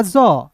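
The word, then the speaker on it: jaw: फिर देखिए यहाँ पे जे का जॉ, ए डब्ल्यू है तो इसका उच्चारण औ के रूप में जॉ।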